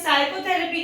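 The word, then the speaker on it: psychotherapy: इसे हम साइकोथेरेपी कहते हैं, इसमें भी पी साइलेंट हो जाता है क्योंकि ये एस के पहले आ रहा है।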